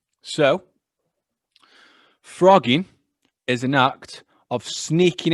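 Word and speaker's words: phrogging: go have you weird have you heard of frogging frogging phr o g g i n g wait you say that then p p h r no double g i n g but it's pronounced frogging yeah well when you first pronounced it i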